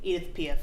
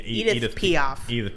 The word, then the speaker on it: Edith Piaf: I said that name wrong. Edith Piaf. Yeah, Edith Piaf.